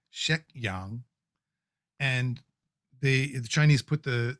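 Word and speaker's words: 石香: Well, on the left, let's put it that way, is her actual name, which in Cantonese would be pronounced Shek Yang.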